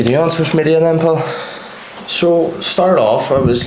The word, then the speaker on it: Pol: Today I am with Paul, is how you say your name, isn't it? Paul. Got it right, happy days. So Paul does social media.